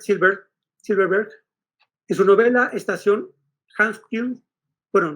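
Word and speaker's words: Hawksbill: Por su parte, el neoyorquino Robert Silverberg, en su novela Estación Hawksville, bueno, no lo pronuncio bien, es Hawksville, de 1968, no va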